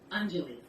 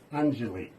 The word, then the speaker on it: Anjali: So, can I get you to pronounce that again for me properly? Sure. Anjali. Anjali.